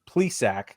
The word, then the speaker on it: Plesac: We've got Ed Rosario, Shane Bieber, Cal Quantrill, Josh Naylor, Zach Plesac.